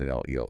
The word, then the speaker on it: Enlil: And Enlil, pronounced Enlil. Enlil, got it.